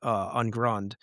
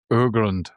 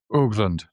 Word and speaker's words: Urgrund: Yeah, the band is actually called Urgrund. All right, that's a funny way of saying that. It's a German word that means ancient earth. Yeah, Urgrund. That's how you say it.